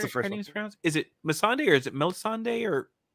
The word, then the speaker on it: Missandei: Is it Missandei or is it Melisandre or I can't remember how it's pronounced. Missandei. Missandei. Okay. There's no L, I don't think.